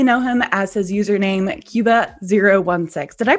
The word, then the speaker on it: Qba016: But you probably know him as his username, Cuba016. Did I pronounce that right, Cuba?